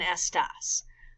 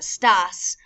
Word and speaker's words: estas: Now make sure you don't pronounce esta as a sta or estas as a stas with accents from our last unit with como está and como estás.